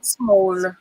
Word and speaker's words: smol: It's spelled SMOL. Have you guys seen that spelling, Yes. Small.